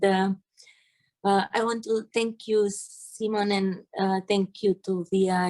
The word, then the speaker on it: Simon: It is Simon or Simon?